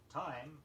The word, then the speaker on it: thyme: Time, T-H-Y-M-E, is a spice.